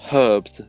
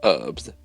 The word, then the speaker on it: herbs: Although you pronounce herbs as herbs, and we say herbs. Some people say herbs, some people say herbs, and I don't say either one because why would I?